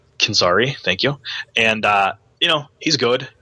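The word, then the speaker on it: Canzeri: I hope I'm pronouncing that right. Canzari, thank you.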